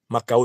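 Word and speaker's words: Mackau: Macao s'écrit M-A-C-K-A-U, et qui reconstitue les conditions dans lesquelles la monarchie, puis l'Empire, puis la République française ont ruiné Haïti.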